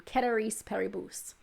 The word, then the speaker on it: ceteris paribus: grew up in texas so my pronunciation ceteris paribus uh is not uh is more of a texas pronunciation it's not the true latin keteris periboose but it means everything